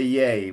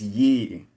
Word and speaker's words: ye: Now, there's that classic English word ye, and the way it looks, one would say yay, but the way it's pronounced is ye.